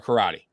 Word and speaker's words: karate: Is it karate or karate? Karate is honestly right, but so karate is more for like Americans, how we say it, but the proper way is karate, right?